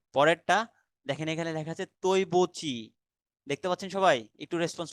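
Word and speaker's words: 对不起: যে ইংলিশে লেখা আছে তৈবুচি। তার মানে এখানে যদি আমি এই বিষয়টাতে পরে আসবো, সেটা হলো আপনার যে ডিইউআই, দুই হয়ে গেল না? কিন্তু বাট এটা উচ্চারণ হবে তৈ, ডি তে ত উচ্চারণ হয়।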